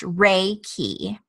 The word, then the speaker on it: Reiki: life energy what is Reiki well Reiki is pronounced Reiki it is spiritual wisdom and life energy it